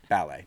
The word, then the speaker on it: ballet: Ballet seems maybe too high flutin for them perhaps or ballet as everybody at Jacob's Pillow calls it with the emphasis on the first syllable ballet.